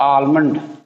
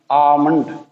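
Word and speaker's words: almond: आगे देखें, next word है आलमंड। आमंड इसमें एल नहीं पढ़ना, आमंड, आमंड।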